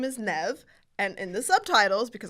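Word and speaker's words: Niamh: There is no V in Nev. And I remember reading a book where the character's middle name was Nev, and it's spelled Niahm. That's Nyam. What? I pronounced it Nyam this whole time, and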